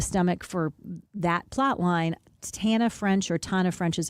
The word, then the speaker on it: Tana French: Tana French is how she pronounces it.